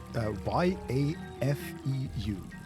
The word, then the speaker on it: Yafeu: Y-A-F-E-U. Y-E-F-E-U. Well, it's like Jafar, right? But yes. From Aladdin, right? Yafeu. Yeah, it's spelled differently.